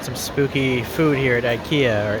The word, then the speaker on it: IKEA: spooky food here at IKEA or IA or aa is really how the Swedish pronounce it.